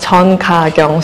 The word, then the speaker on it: Chon Ka-kyung: Actually, my Korean real name is pronounced Chon Ka-kyung. So in Korean, you pronounce the family name first. The family name comes first, and my Korean name is Ka-kyung.